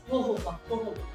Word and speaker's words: jojoba: ट्राई जोजोबा, इट्स नॉट जोजोबा, इट्स होहोबा। लोग बहुत कहते हैं, लोग बहुत अंग्रेजी प्रोनाउंसिएशन करते हैं, जोजोबा कहते हैं, और ये होहोबा है।